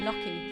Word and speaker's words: gnocchi: Gnocchi? It's gnocchi.